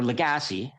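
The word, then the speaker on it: Lagasse: And I would give as an example of that uh William Legacy or Legassi. I always try to pronounce it the Canadian way.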